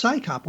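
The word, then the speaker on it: CSICOP: And Scychop you actually have a name you can say. It's Psychop.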